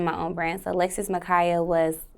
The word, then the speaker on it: Makiah: stage name okay um you said Alexis Makaya not Makia but magaya people do mispronounce this yeah do people misspell